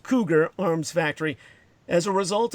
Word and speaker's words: Cugir: by the long established cougar or cugir pronounced cougar arms Factory as a